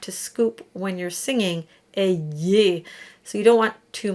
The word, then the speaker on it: ayez: And the Y is more than just an E sound. It actually has a bit of a kick to it. It has a bit of a Y to it. So prier just travels between E and A, and ayez has that little kick.